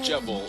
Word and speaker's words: Jevil: while she will never let's talk about jeil but this time we pronounce things correctly yes jevil the jester of chaos or should I say